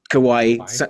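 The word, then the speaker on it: Kauai: we on Ryan kawaii kawaii rhymes with Hawaii um and they sort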